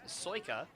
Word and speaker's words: Sajka: inning and now andrew sajka the right fielder will step up to the players and that pitch is outside for paul one i do have to apologize uh the pronunciation is soyka so i apologize i